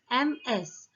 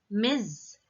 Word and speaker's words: Ms.: And next one is MS. The correct pronunciation of this word is Ms. M-I-Z, Ms. Z sound should be there at the end.